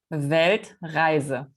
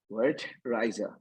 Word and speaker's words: Weltreise: Weltreise. Weltreise.